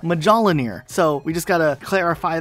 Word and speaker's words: Mjolnir: The armor itself in Halo is called Mjolnir, or part of Project Mjolnir. It's spelled like this, and while you could have some slightly different variations on how you might pronounce that, it's definitely not Mjolnir, so we just gotta clarify that right now.